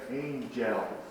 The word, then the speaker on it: angels: The schwa sound is not musical. In other words, when we say angels, you just hardly hear that when you're saying angel. Hark the herald angels sing. Say angels. Pronounce it that way.